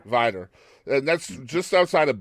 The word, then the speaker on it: Vidor: So you're originally from is it pronounced Vidor or is it Vidor area? Vitor. Vidor.